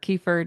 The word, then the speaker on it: kefir: There's a yogurt drink called kefir or kefir, depends on how you say it or what you want to say.